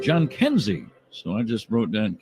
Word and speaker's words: Jhonkensy: I always put it down phonetically. I ask the other announcers usually. We talked to our good friend Tom Hamilton, and he said John Kenzie.